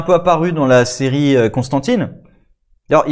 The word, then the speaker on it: Constantine: Alors que Constantine, c'est la prononciation française, mais normalement il s'appelle John Constantine.